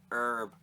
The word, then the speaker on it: herb: It's like they make fun of us for not saying the H in herb. Herb.